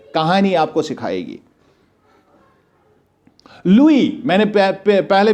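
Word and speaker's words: Louis: लिखा लुइस है, जिसको हम लुइस आमतौर पर पढ़ते हैं, लेकिन इसको लुइस नहीं पढ़ना है, इसको लुई पढ़ना है। ये फ्रेंच वर्ड है, इसमें एस जो होता है ये हमेशा साइलेंट होता है।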